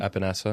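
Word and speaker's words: Epenesa: And now that we have uh Russo, Aenza, is that how you pronounce it? Epanessa.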